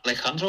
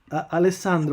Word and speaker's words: Alessandro: is it pronounced Alejandro or Alessandro? Alessandro with a double S.